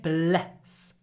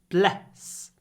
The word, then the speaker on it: bless: when you say it bless bless bless it's a really short e the E is clipped before the S bless you bless you